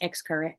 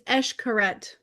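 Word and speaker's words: Xcaret: It's e um I can't pronounce xcar xar. I looked it up. It's escoret. Oh, that's correct.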